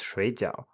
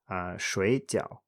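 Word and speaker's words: 水饺: 水饺水饺 Borderline not correct, but I would say that it's supposed to be pronounced 水饺, 水饺.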